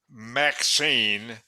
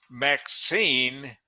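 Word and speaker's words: MXene: what's that well uh the way they pronounce it is maxine that was the name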